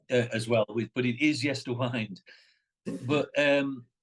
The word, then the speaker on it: Yesterwynde: well but it is yes to wind but um wind can be the winding of a clock as well it can be the